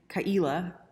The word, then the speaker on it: Ka'ila: it's my namesake and kaila is actually pronounced it's like a guttural aila aila and i'm not saying it right my dad always